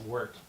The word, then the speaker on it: wort: Oh, pronounced wort. W-O-R-T, but it's pronounced W-E-R-T.